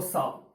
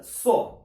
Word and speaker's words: saw: котрому Я Хочу наголосити бачите оце слово завжди читають як сов або Сав це неправильно Сав - це взагалі пила а сов так ніхто не говорить літера w тут не читається so Se so seen I